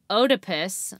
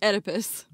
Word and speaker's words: Oedipus: development and it's called the otipus complex and i really hope i said that right what oedipus oedipus wait for that there's another there make it make sense no that's fine the o is silent well if it was